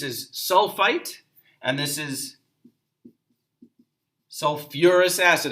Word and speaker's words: sulfurous: And then this is sulfite, and this is sulfurous acid. Again, sulfur, the sulfate and sulfite, they add back that syllable.